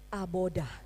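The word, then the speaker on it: עבודה: dia udah berkat nah kemudian ahli bahasa di Israel menambahkan aksen supaya kita mudah membacanya ditambah dengan huruf hidup di bagian depan Tengah dan tengah belakang sehingga kita mudah membacanya menjadi abodah tiba di rumpun bahasa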